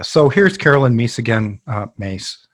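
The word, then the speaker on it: Myss: here's Carolyn Mies again mace her name's pronounced mace who had we've seen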